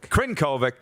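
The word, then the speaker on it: Crnkovic: seconds into overtime and how do you say this kid's name i said sir koenig but it's not right kyle krinkovic krenkovic thank you had four assists as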